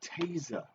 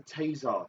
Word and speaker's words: taser: Because it's pronounced taser. There's no such thing as a tasar.